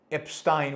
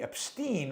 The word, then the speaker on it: Epstein: Alex Epstein rhymes within. Jeffrey Epstein rhymes with obscene.